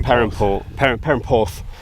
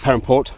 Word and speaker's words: Perranporth: And um and and try and get down to to Par Permp, not Permport. I keep saying it wrong.